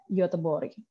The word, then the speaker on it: Göteborg: Jadi tulisannya gini, G, O ada matanya di atas, T-E-B-O-R-G. Bacanya Göteborg. Nah, Gothenburg itu ada kurang lebih 11.000 km dari Jakarta.